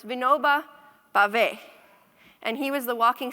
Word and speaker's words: Vinoba Bhave: I asked Vandana how to pronounce it. It's Vinoba Bhave.